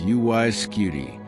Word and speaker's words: UY Scuti: And now when you say those three syllables, UY Skuty, they no longer sound like a postal code.